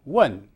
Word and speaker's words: wen: If you notice where your tongue is positioned at the end of saying the word W-H-E-N, when, you'll find that the tongue, if you pronounce it as I do, does not come so far forward as to touch the teeth. But in Chinese it does.